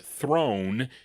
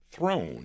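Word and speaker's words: Trone: Throne, yeah. There's no H there, though.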